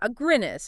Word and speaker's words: Aguinis: But then this meta-analysis from 2018 came along by a researcher named Aguinis and his team. Agreedness. Yeah, Aguinis. It rhymes with beer.